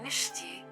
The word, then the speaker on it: Mishti: You have calling Mishti, so the H is silent.